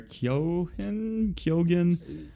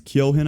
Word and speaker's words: Keoghan: Barry Keoghan. Something like It that. is Barry something. Yeah, I don't know Barry how to pronounce his something. last name. It's Keoghan, I think, but So the next Joker, or